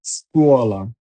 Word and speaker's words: scuola: Scarpa, S-C-A, Sca, R-P-A, scarpa, scopa, S-C-O, Scopia-pa, scopa, scuola, S-C-U, Scuola, scuola.